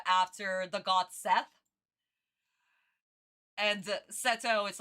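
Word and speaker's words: Seto: I literally called him after the god Seth and Setto is like it's Japanese pronunciation of Seth.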